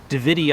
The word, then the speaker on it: Davidii: Likewise, if it's Davidii and ends with two I's on the end, you're going to pronounce them both.